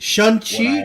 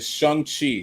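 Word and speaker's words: Shang-Chi: actually i actually learned it like shun chi no like yeah it's shang chi so say it's it's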